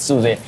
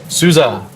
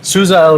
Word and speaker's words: SUSE: Alliance and marketing at Suzy did I get it right Sue's us Sousa we have to be we're gonna have to look at that video again Sousa not Suzy right Sousa rhymes with Appaloosa Oh perfect so first